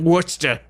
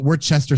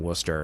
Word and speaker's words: Worcester: city whisper like and i said yeah it's like worcestershire sauce like that's how you pronounce it and she freaked out on the phone going oh my god i'm gonna have to call my girlfriend up and tell her apparently they call it we're chester sire sauce yeah that's